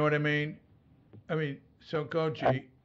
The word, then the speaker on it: Sokoji: So yeah, it's hard for me they tend to say it sort of evenly, Sokoji.